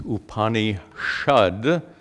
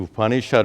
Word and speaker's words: Upanishad: Sanskrit it comes as upani shud well there are grammar rules that Force this sa to be pronounced as Shah that's due to grammar rules so the upanishad is formed from two